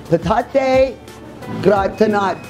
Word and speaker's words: patate gratinate: Now let me see if I'm getting this correctly pronunciated. It is patate gratinate.